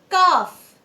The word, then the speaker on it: calf: Calf. The silent letter is N.